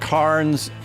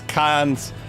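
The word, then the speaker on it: Cairns: They don't pronounce any R's.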